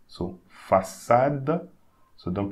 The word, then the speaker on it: façade: Okay, when you have C, cédille, it sounds like a double S. So, façade.